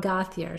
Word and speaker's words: Gauthier: Everybody pronounces it differently. I thought he says, okay. My name is Gauthier, so I go with that.